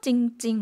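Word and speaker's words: จริงๆ: 태국어를 혹시 보고 계신 분이 있다 그러면 중간에 러르어가 묵음이 되었다는 것 아실 것 같아요. 두 번 읽었죠? 찡찡 마이야목을 넣어서 두 번 읽게 되었는데요.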